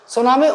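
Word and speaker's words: tsunami: है बंदरगाही लहरें ना इंग्लिश में स्पेलिंग देख लो भैया टी साइलेंट होता है सुनामी उच्च ऊर्जा वाली दीर्घ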